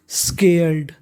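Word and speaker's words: scared: स्केर्ड, स्केर्ड, आप ध्यान दीजिएगा यहाँ पे ईडी है तो ईडी को पढ़ना है डा।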